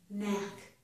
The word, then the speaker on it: knack: The K is silent. It's knack, knick-knack.